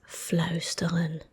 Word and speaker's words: fluisteren: It's natural to me, but this verb you pronounce whispering as fluisteren, fluisteren, fluisteren, fluisteren, ow, ow, ow.